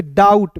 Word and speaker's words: doubt: ठीक है, देखिए यहाँ पे DOUBT है, तो इसे डाउट नहीं पढ़ेंगे, इसे पढ़ेंगे डाउट, बी को साइलेंट करते हैं।